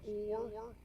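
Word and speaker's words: אור: interesting it's the same they're spelled different but they're the same what do they call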